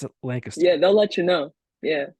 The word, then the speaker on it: Lancaster: It's Yeah, Lancaster."